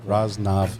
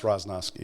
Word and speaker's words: Roznovsky: do you say your last name roznovsky raznaski raznav is the way it's pronounced in the old country but uh it's roznovsky here where is that check oh it's check